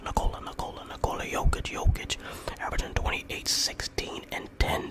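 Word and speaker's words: Nikola Jokić: Actually, it's pronounced Nikola Jokic, averaging 28, 16, and 10.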